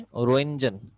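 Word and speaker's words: Röntgen: ये रेस सबसे पहले 1895 में, 1895 में रोइंजन, इसमें टी साइलेंट है, रोइंजन, रोइंजन ने दरियाफ्त की थी, जिनकी वजह से इनका नाम रोइंजन रेस रखा गया।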